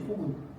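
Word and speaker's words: 暴君: 내가 계속 얘기하지만은 자포작이 아니 호군도 틀린다니까 폭군 틀리는 거 포군이라고 복 산납다고 할 때는 포라고 읽었지 폭이라고 안 읽었어 포악하다 그랬지 포악이라고 안 하죠 그 폭군이지 포근 포근이 맞는 거예요. 폭군이 아니에요.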